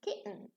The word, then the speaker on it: kitten: Same thing in kitten. Notice here, there is an N at the end or after the vowel. So here, the T here is not pronounced as a ta.